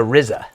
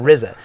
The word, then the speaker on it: RZA: Their leader, their producer, is a guy whose name is spelled RZA, but it's pronounced the RZA, which sounds cool, the RZA.